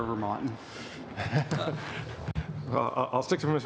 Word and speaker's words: Vermaeten: Vermeeten is good, but I prefer Vermonten.